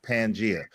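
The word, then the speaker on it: Pangaea: Hey, first first of all, first of all, the crazy thing is it's pronounced pangia.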